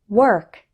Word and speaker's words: work: There's a similar error with word, work, worse, and world. The letter O in these words isn't pronounced like O. Instead, WOR sounds like were. Let's practice. Word, work, worse, world.